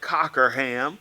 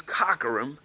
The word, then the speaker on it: Cockerham: phonetically it looks like Cockerham but my eye says is Cockrum my uncle says is Cockerham so you get